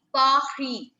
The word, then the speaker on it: Paris: R is pronounced as R. R. A little coughing sound from the throat, like we take out a cough, isn't it? So R in French is pronounced in the similar way. We call it Pahi.